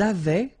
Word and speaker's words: avaient: Ils avaient, so remember, even if we've got this A-I-E-N-T, well, we don't pronounce it, or we don't pronounce this E-N-T, so we get avaient, okay, phonetically.